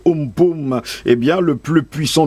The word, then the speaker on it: Amphan: Le cyclone Amphan, qui se prononce Umpum, eh bien, le plus